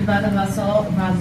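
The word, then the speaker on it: vasa vasorum: Se cair a pergunta sobre vasa vassorum, como é que pronuncia? Vasa vassorum.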